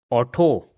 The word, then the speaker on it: Auto: Another example will be auto.